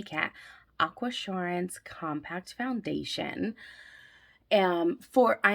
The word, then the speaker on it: Aquasurance: of right now and i figured out how to say it it's aqua assurance i'm a little late